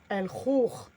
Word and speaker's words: el khour: Et le khour, le KH ou le 5 qui crie en vert, c'est le R raclé au fond de la gorge, comme le mot cracher. Cracher. Kha. Le khour. El khour.